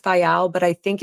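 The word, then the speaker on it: Viall: I know it's pronounced Vial, but I think it's more aptly pronounced Vile because he's a vile human and so is his wife.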